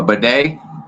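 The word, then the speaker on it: bidet: I saying it right sorry a bedet the second toilet bed yeah that's right yeah that's Right.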